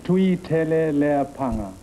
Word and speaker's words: Tuiteleapaga: Tuiteleapaga. You were swearing. No, I was sweating. I wasn't swearing. Okay, wise guy, you pronounce it. Tuiteleapaga. That's all there is to it?